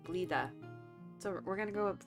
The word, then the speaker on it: Blida: What we're gonna do real quick now is we're gonna go to Blida.